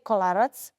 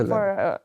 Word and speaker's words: Kolarac: Yes, so when you say kolarac, Yes. it has to be C. And I think Kolarac. for, how do you pronounce C? Kolarac. You see, so it's C.